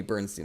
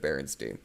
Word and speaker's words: Berenstein: Only it couldn't have been shorter, the mention, and he also mispronounced my name. He called me Bernstein instead of Berenstein.